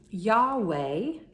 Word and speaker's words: Yahweh: So Yahweh is the typical pronunciation that we hear in Christianity.